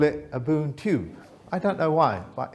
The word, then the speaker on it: Ubuntu: And I can't pronounce it properly, but one of you can probably help me pronounce it. Ubuntu. Thank you very much. I always call it Ubuntu.